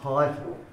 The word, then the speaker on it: Haidt: So this fellow, Jonathan Haidt, it's pronounced.